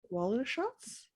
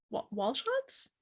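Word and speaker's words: Walschots: shots at the end her last name is spelled w a l s c h o t s waller shots wall shots i don't i don't know ain't pronounced that correctly super cool i think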